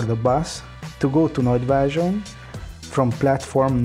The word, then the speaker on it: Nagyvázsony: This bus will take 1 hour or 30 minutes, and you will need to pronounce Nagyvázsony like this. Nagyvázsony.